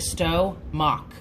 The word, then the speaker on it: stomach: for the word stomach it is not the way it's spelled it's the way it sounds to you and to me it looks like stow mock stomach stomach that's how i